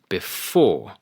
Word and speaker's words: before: For example, on before, it is the second syllable, before. On cinema, it is the first syllable, cinema.